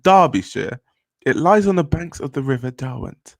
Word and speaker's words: Derbyshire: Derby, pronounced Derby, is a city and a unitary authority area in Derbyshire, England, pronounced Derbyshire.